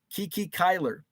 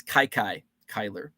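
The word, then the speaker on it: Kiki Cuyler: Grover Cleveland Alexander, Three Fingers Brown, Frank Chance, Kiki Kyler. I think I pronounced that wrong. I think it's Kai Kyler.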